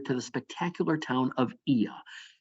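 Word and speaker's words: Oia: the spectacular town of Ia. Yes, it's spelled O-I-A, but it's pronounced Ia here.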